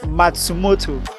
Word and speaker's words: Matsumoto: I noticed it was Japanese when I tried pronouncing uh you know the second one is that uh Matsumoto like it all right that's it you did